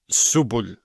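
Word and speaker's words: سبل: And then we have the lam. And we assume that the lam is a glottal stop, a sukoon. It would be pronounced as subul.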